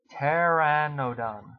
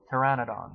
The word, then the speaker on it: Pteranodon: trouble pronouncing this word I know this has a silent P Pteranodon Pteranodon I think it's pronounced Pteranodon Pteranodon which is u